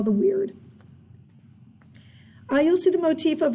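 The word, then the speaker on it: wyrd: So another motif that we have is something called weird, and it looks weird, and it's spelled weird, and it sounds like the word weird, W-Y-R-D.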